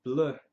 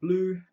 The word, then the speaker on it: Bleu: from the house of Chanel and that is blur the Chanel blur the Chanel some people pronounce it blue um which is what it means in French